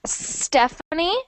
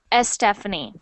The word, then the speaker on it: Stephanie: a bit of when when the S is the first letter I hear a little e at the beginning I hear Estephanie okay so just be careful with that so it should sound like Stephanie not Estephanie okay Stephanie Stephanie good good